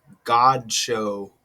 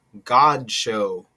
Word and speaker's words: Godchaux: You pronounce the name God Show. Donna Jean God Show. You get so you get God in there.